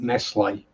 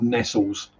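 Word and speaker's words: Nestlé: You see, you can tell I'm from a posher part of the country because I pronounce it Nestle, not Nestles.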